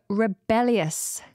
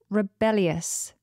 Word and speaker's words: rebellious: have the adjective rebellious rebellious and this is spelled r e b e l l i o u s rebellious rebellious sometimes people struggle when there's an L in the middle of a word so just make making